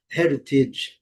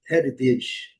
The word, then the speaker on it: heritage: Então vai ter um som de D, heritage, heritage, D ou R, heritage. OK. Aí eh cabe um estudo mais detalhado sobre essa pronúncia, mas tecnicamente é heritage.